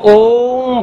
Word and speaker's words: ओम: एक शब्द नहीं है आ उ और म का सम्मिलित उच्चारण किया जाए तो वो ओम बनता है अब ओम का लाभ